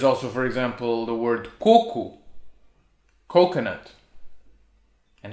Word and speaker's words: coco: but no there's also for example the word coco coconut and it's totally different from koko which